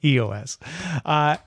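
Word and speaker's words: /e/OS: Yeah, they're not pronounced though. So we're just going to say EOS.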